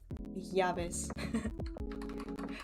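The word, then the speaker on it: llaves: They'll they'll teach you how to like you'll pronounce the Y and the double H. I mean, no, the double L as like Y, like when you say where are my keys, it's like Yavis.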